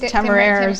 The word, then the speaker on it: Temerario: And so in Spanish, I think it's temerario.